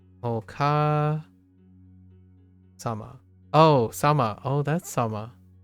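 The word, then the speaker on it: お母様: Until then, it's pronounced Oka Sama.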